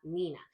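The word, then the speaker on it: NENA: in the North End they have Nina so that's spelled n-e-n-a and it stands for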